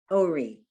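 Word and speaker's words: אורי: orech, chum, humi, uri, The vowel is O and the aleph is silent and the vowel is O. uri, Ori. uri.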